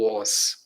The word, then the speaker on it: was: do is é o was Olha a pronúncia w no inglês é u u os é assim